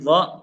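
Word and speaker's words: ظ: Jadi dho kurang lebih cara pelafalannya ujung lidahnya agak digigit dikit. Ya. Mirip dengan zal. Cuman kalau dho ini versi yang lebih tebalnya. Dho ini adalah zal versi tebal gitu.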